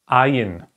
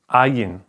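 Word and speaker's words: ע: The next consonant is ayin. Ayin. That's written like that. Ayin.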